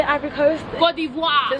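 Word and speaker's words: Côte d'Ivoire: Cote d'Ivoire.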